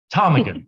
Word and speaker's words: ptarmigan: know how you pronounce this so i apologize patanigan i think a rock photographer it's called the thunderbird how do you pronounce it tarmigan you don't pronounce that so a rock ptarmigan